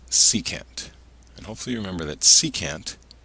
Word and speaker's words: secant: two of these if you remember this is pronounced secant and hopefully remember that secant is the reciprocal